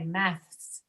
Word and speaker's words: maths: It's very hard to say maths. That's harder to say than tasks or masks, because tasks and math are both inside the mouth, tasks. But for math, your tongue has to come outside the mouth and then quickly go back to produce the S.